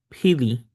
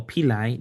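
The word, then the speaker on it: pili: So next we move to py or pi depending on who is pronouncing it but basically it's just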